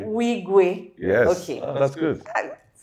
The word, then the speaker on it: Nwigwe: I hope I'm pronouncing that name right. Oh my Eyina God. Nwigwe. Nwigwe. Nwigwe.